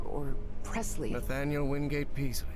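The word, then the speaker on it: Peaslee: Paisley or Presley? Nathaniel Wingate Peasley. Peasley Yes, pronounced that Peasley.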